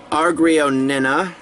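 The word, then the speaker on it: agrionina: This is the argrionina. That's how it's supposed to be pronounced.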